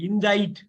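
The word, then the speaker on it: indict: ரொம்ப ரொம்ப முக்கியமான வார்த்தை இண்டைட் இத வந்து இந்த சிய கட் பண்ணுங்க இன்டைட்னா ஒருத்தவங்கள இன்டைட் பண்றாங்கன்னா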